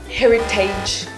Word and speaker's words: heritage: Heritage. Heritage. Heritage. The word is often mispronounced as heritage, but pay attention to the letters A-G-E here. It's not age, but itch. So let's say heritage instead of heritage.